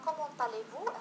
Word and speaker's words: comment allez-vous: إذن هنا comment allez-vous هذه استثناء لما قلنا.